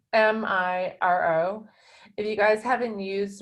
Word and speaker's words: Miro: I have a vowel problem, but it's Miro.